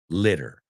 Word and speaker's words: litter: Aunque sea dos T's, los americanos lo pronunciamos como una D, pero cambia el sonido vocal. So leader, un líder, and litter.